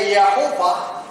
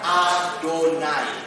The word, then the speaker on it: YHWH: Allah yang sangat Suci kalau orang Yahudi membaca singkatan ini mereka tidak membacanya yhwh mereka tidak bacanya yahova mereka tidak membacanya yahwe mereka membacanya adonai artinya Tuhan Nah kalau dalam kitab